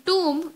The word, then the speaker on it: tomb: Con, sun, comb and tomb. In tomb, we are pronouncing O as if it were a U.